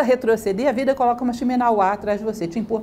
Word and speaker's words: Shimenawa: Aí os deuses colocam atrás dela uma corda, que é Shimenawa. É difícil falar essas palavras em japonês, porque todas as sílabas são tônicas, né? Shimenawa.